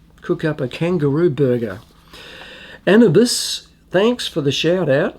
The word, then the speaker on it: Anubis: And it's pronounced Anubis.